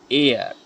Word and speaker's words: heir: इसी तरह जो है एन एयर, HEIR, जिसको हम वारिस कहते हैं, वारिस ईयर। तो यहाँ पर जो है इनमें एच जो हैं वो साइलेंट हैं और ये हमें अलिफ की आवाज़ देता है।